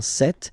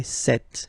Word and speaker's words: cette: Okay, so let's see that again, ce, or then cette, féminin cette. So you can notice that phonetically these two are pronounced the same way, okay? Cette here and then cette here.